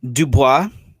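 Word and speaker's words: Du Bois: black history uh i always say this last name wrong can you say for me dubois mm-hmm there you go um mr dubois uh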